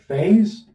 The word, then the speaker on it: phase: The word phase with an F, an A, and an S. The S standing for a Z sound here.